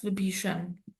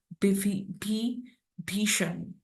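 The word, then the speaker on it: Vibhishan: So uh it is actually in Hindi but of course in Bengali you know the accent is a little different. So that is why the ver is pronounced as bi bishan but actually it could be vipishian with the pronunciation in Hindi.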